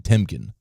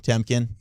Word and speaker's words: Temkin: now you do pronounce pronounce the n in temkin yeah Ari temkin that's right yeah yeah